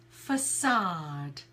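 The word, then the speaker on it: façade: first one is facade so it's facade facade so again it's that schwa sound for the vowel sod you have silhouette like Michael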